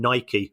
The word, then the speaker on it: Nike: But Liverpool have taken an innovative approach that they've received less money from Nike, or Nike, depending on how you like to pronounce it, than their preceding deal from New Balance.